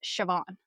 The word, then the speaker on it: Siobhan: Yeah, like Siobhan is typically spelled Siobhan, but it's pronounced Siobhan.